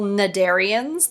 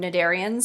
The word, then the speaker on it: cnidarians: themselves are small sessile cnidarians that word the C is silent and they live as